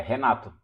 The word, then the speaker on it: Renato: É isso, meu nome está certo, é Renato. Esse R no começo tem som de H na língua inglesa.